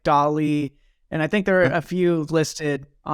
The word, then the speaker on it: DALL-E: And for those of you that aren't familiar, if everybody knows of ChatGPT, but you don't know of DALL-E, which is spelled like Wally with a D, it basically is an art generator.